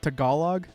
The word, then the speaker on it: Tagalog: It's pronounced Tagalog? Tagalog. Tagalog. Okay. Don't enunciate the G in Tag. So Tagalog. Yeah.